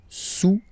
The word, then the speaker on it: sous: okay look cube a sous la silla don't pronounce the final s and then this Oh